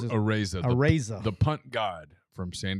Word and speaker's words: Araiza: So last year, one of our first shows, Matt, can you pronounce it? Araiza.